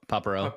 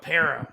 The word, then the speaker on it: Paparo: My my great-grandparents from Greek said Greece said it differently. So how am I here in modern day supposed to tell them how to pronounce it. Well, uh I just kind of Americanized my name and just went with it.